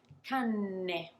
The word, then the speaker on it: canne: So can you perceive, can you hear how I'm not lingering on the one with one N? Cane. Of course, I'm pronouncing the N, but not really staying there. Canne. I'm really lingering on that N and expanding and extending that sound.